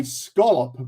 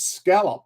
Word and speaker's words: scallop: But we we say scolop, but when you look at the spelling, it's scallop. And that's exactly how you pronounce it.